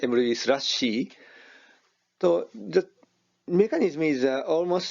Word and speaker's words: mruby/c: about emeryvisa c and this is the pronounced emory slash c so the mechanism is